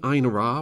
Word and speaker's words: Einherjar: do that anymore so let's just commit say einar with a soft j and as much confidence as possible and the hope that